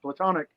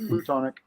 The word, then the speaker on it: platonic: your platonic friends look i said it right platonic not plutonic for some reason when